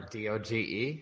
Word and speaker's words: Doge: Or whatever, DOGE? I thought it was Dogecoin. I thought it was Doggy Coin.